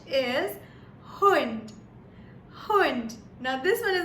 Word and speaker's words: Hund: Now the word that I would like to share for H is Hund. Hund. Now this one is my favorite because I'm an animal lover. And Hund means a dog.